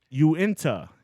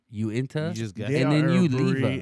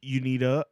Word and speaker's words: Uinta: next beer is Uinta Uinta I believe is how you pronounce that Uinta and you're guessing no no I looked it up Ashley okay you you don't know how to read the pronunciation well I thought it was Unida or you or you